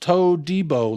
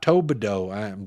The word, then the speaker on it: Todibo: gotten to know um it's pronounced tobo like Debo Samuels tobo not toao I'm working on it